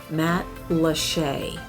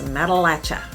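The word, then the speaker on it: Matlacha: reminds you of key west and it's called matt lachey now i've heard it pronounced many many different ways but the most popular wrong way to say it is matalacha don't say that because then you're a tourist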